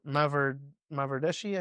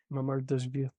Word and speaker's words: Mamardashvili: And then we got another goalkeeper, Mavardeshi, I think I'm pronouncing it right. Mamardashvili.